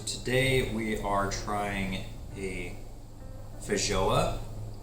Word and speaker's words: feijoa: So today we are trying a Feijoa. I've heard this pronounced several different ways. I've heard Feijoa, but we're going with Feijoa because that's what I was told at the nursery.